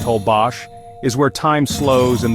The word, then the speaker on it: Holbox: Holbox Island, pronounced Holbos, is where time slows and the sea whispers peace.